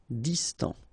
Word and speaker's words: distant: Final T not pronounced. Distant.